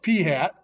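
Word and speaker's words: p̂: P hat, that little hat over the P is pronounced P hat, is the actual sample proportion.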